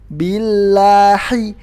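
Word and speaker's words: بِاللَّهِ: Nah, ini kurang pas, karena hak di lafzul jalalah adalah hak gede, billahi, hi, bukan hi. Kemudian haknya harus jernih, jadi nggak boleh ada suara nya. Sebagian bacanya kayak gini, billahi, nah ini jadinya huruf kha. Padahal ini bukan huruf kha tapi huruf ha besar.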